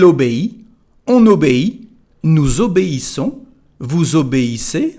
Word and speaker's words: vous obéissez: Il obéit, elle obéit, on obéit, nous obéissons, vous obéissez, so the same liaison like a Z.